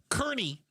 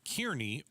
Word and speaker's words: Kearny: Kearney, Arizona. I wanted to call it Kearny or Carney, and I was incorrect. Yes, that is. Kearney, like Ernie.